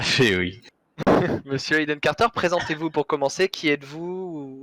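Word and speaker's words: Aiden Carter: Alors du coup, Monsieur Hayden Carter, je prononce bien, c'est ça? Tout à fait, oui. Monsieur Hayden Carter, présentez-vous pour commencer.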